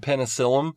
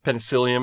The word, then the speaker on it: Penicillium: like aspergilus and and penicillum penicillium is how it's pronounced I know it's penicillin for the medicine you take if we see high